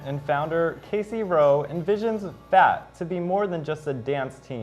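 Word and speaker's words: PHAT: A new SHSU organization reclaims the word FAT, but it's spelled P-H-A-T.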